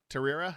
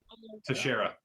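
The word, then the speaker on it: Texeira: Mark Mark Terrera, is that how you pronounce it? Tasher.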